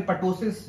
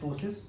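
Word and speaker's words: ptosis: टोसिस क्या होता है, टोसिस या फिर पटोसिस, जो भी आप इसको बोलते हैं, द गुड प्रोनाउंसिएशन इज और correct pronunciation is टोसिस। टोसिस piece में साइलेंट होता है टोसिस।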